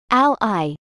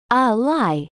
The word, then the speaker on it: ally: people to advance your career as a noun pronounce Ally like this Al I as a verb it's a lie usage examples example one one of his most